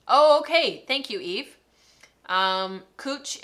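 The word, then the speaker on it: cwtch: thank you eve um cooch is pronounced cooch um so that was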